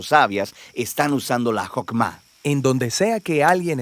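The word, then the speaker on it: חכמה: En hebreo se pronuncia Jokmah y usualmente se traduce al español como sabiduría.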